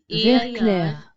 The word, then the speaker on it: vert clair: Now notice that here the T is not pronounced and ER sound is pronounced as air, ver, ver. And here clair, Vert clair. that has to be pronounced as air, air. Ver clair, clair, clair.